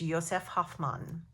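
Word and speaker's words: Josef Hofmann: google joseph hoffman and the polish way he is polish to say that i believe is yosef hofmann and it's spelled j o s e f h o f one f m a n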